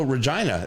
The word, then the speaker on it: Regina: so just really quick, um, how do you pronounce that city in Saskatchewan?" And Sar, I said, "Oh, Regina."